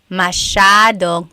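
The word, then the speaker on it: masyadong: Mashadong means a lot. So the s ya is a sha sound.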